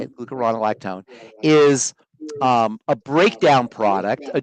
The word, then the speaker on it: glucuronolactone: So glucuronolactone is how you say it, glucuronolactone, is a breakdown product, a derivative of glucose.